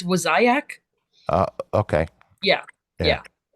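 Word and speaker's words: Wassaic: Oh, Um, Wasaic. yes. Okay. Yeah. Wasaic. Yeah. Okay. Yeah. Yeah. I always pronounce it wrong.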